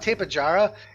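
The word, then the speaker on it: Tapejara: In Spanish, if you pronounce it like Spanish, J's are H's, right? And you would pronounce it Tapahara.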